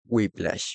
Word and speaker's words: Whiplash: Este fragmento de esta película, que espero pronunciarlo bien, Whiplash, en realidad se dice Whiplash, perdón por la pronunciación.